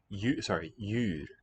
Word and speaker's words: djur: Djur. The D is written, but it's no longer sounded.